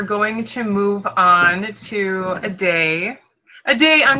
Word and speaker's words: Adey: you how it's pronounced it's a day holiday there we go okay